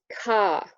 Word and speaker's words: car: dive into phonology here RP is non-rhotic so you don't pronounce post vocalic are here my example is the word car which is car in RP sorry for my bad